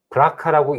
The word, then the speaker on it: BRCA: 그래서 거기에 나온 걸 가지고 특히 너무나 유명한 브라카라고 읽는 BRCA1, 2 유전자를 분석을 해서